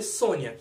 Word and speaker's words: Sonja: Ou o nome Red Sonja, que para quem conhece, Red Sonja se escreve Sonja. Mas se lê Sônia, será que alguém mais aqui lembra de Red Sonja?